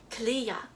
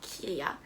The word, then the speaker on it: kriya: freaking say it right it's called kliya not kiriya i'm so sorry i